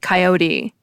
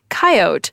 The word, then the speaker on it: coyote: What'll jump out at you first is that the coyote pronunciation is much more prominent in the middle of the United States than anywhere else. It spans a somewhat expanded Great Plains region. All along the coasts and in the south, and through the whole Minnesota, Wisconsin, Ohio region, people primarily seem to say coyote. But in Montana, Wyoming, the Dakotas, Kansas, Nebraska, and Iowa, coyote seems dominant.